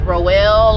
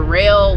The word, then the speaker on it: Roehl: I ended up going with Roel or Rail, however you want to pronounce it, ROEHL.